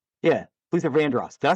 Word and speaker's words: Vandross: Is that how you pronounce it? Vanderos. That was Vandross. Yeah. Luther Vandross.